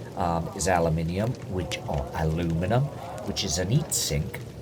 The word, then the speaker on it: aluminium: So this part here is aluminum or as Americans say aluminum.